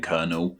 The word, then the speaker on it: colonel: Do you think there's any words out there of a bigger difference in their spelling and pronunciation than kernel?